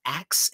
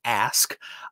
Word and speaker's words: ask: It used to come out axe, and my father would say, no, you cannot ask me anything. And that got to be very annoying. And so I learned how to properly pronounce ask.